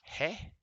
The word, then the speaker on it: ge: moments ago right so the G is pronounced hey and the uh a